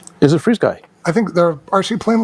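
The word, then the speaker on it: FrSky: Yeah, I think Fry Sky Fly Frisky makes them. Yeah. And you know what? I found out that the correct pronunciation is Free Sky. Is it Freeze Sky?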